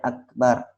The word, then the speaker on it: Akbar: Allahu Akbar, yang benar kan pendek, Akbar.